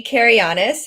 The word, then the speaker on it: Kianis: my name is kianis um that is how you pronounce my last name it is Greek um I am an